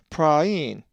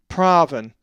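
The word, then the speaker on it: πραΰν: Just remember, when you see the double dot, pronounce each vowel separately. A Greek word that has the eepsilon theoresis is praein, which means gentle and is the accusative of 4239. It's not praven, as the alpha epsilon diphthong would normally be.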